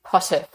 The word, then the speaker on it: Potterf: it's another episode I'm here with Dr Tracy Potter have I pronounced that correct Tracy yes you did good